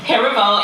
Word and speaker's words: Heribo: And then you got Herbo. I always slurred his name. Did I say it right, Herbo? Say it again. Yeah? So I gotta pronounce fully the first two syllables.